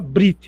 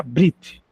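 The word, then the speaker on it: בְּרִית: E o judeu fala brit. Realmente o judeu quando vai falar essa palavra ele, o ezinho desaparece, fica brit. Não tem problema falar esse é bem fraquinho.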